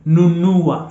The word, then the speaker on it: nunua: The other example of the alphabet na, which is N in English, is nunua. So remember the pronunciation now here changes to nu.